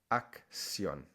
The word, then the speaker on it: acción: So in that case, you would pronounce it action in English, and in Spanish, acción.